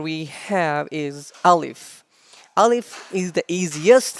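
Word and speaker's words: ألف: process is very simple you have to say alif and the sound of alice comes from the empty space of your mouth alif alif alif repeat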